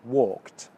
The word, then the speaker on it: walked: I walked in English it's actually pronounced with the T sound at the end walked can you hear that